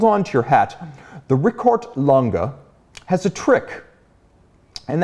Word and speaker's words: Richard: If we're going to use the true German pronunciation, it is Richard.